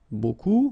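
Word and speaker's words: beaucoup: bit strange like that remember you don't pronounce the final b okay and then you get this combination of vowels and you get the sound o so technically it's okay so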